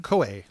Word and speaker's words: Koei: Koei.